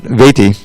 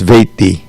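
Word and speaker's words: वेत्ति: Now, as soon as you see a double consonant, it means that the previous syllable is what we call heavy. It gets a quarter note's worth rather than an eighth note. So it's not veti, It's veti, tattvataha.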